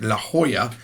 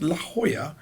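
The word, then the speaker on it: La Jolla: is a house in La Hoya apparently it's pronounced La Hoya it's written as laola but it's pronounced La Hoya this is a four-bedroom house that goes for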